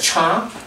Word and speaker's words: char: Alright, some people like to pronounce as char. Some people call it character, it's up to you.